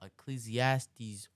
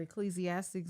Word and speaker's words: Ecclesiastes: let's look this up you said ecclesiastics 1 Ecclesiastes say wrong okay you're right I'm saying it wrong ecclesiast one okay and